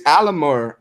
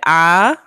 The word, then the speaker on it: Amalur: It's Alamur. No, say Amalur. Amalur. Amalur. It's spelled it's spelled Alamur. Alamur. No, there is no extra M, boo. It's Amalur. Lore.